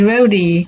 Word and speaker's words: Rhody: And he says Rhody, kind of, like Rhode Island, but you pronounce the E.